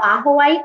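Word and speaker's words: ajoite: been for a while aqua white it's spelled aj o ite okay that's my favorite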